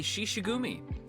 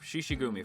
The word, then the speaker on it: Shishigumi: as the leader of the shishugumi see i said it right this time there you go no more leo group shishigumi from now on um louis as the leader of the shishigumi the the the fact